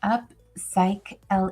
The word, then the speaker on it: Upcycly: Upcycly is pronounced Upsychle. It sounds like upcycling without the ng.